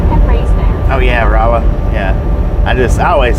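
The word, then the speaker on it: Rolla: Oh yeah, Raa. Yeah, I just I always say Rolo. I know it's not Rolo because it's R O L L A.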